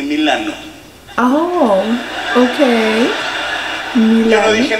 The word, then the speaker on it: Milano: la primera parada fue milann ya estando ahí me explicaron que no se dice Milan se dice Milano Oh Okay Yo no